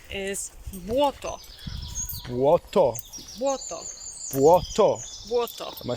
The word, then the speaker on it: Błoto: Błoto.